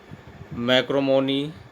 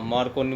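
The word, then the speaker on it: Marchionini: मैक्रोमोनी model, pronunciation मार्कोनी model 1989 में आया,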